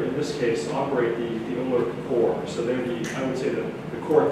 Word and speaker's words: OLRC: So in Ontario, we built the OLRC, the Ontario Library Research Cloud, we tend to pronounce it as OLRC, 11 partners.